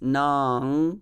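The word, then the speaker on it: nāṁ: it's kurumayi so and nam which i pronounce as nang because there is anuswara anyway so that is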